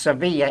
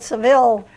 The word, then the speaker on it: Sevilla: by the British yeah well it's pronounced Sevilla in smash yes so the core Seville and today we call it Seville Anglo sizing the the the name entirely yeah but that's our